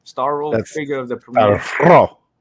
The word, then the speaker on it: Starro: How you pronounce that Starfish's villain name? Starro, That's figure of the premiere.